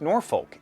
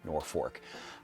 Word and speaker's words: Norfolk: Napalm Lullaby starts in present-day Norfolk, Nebraska. Yes, to be clear, it is not Norfolk. Yeah, I am from the Midwest, and it is pronounced Norfolk.